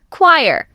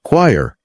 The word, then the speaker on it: choir: Okay, word number 4, choir. This one is sneaky because it has 5 letters and looks like choir or key or. But it's just 1 syllable, choir, like wire with a K in front.